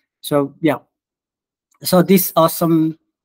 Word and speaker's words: OSEMN: The other framework is they call it awesome. It's like a pronunciation, but it's OSEMN.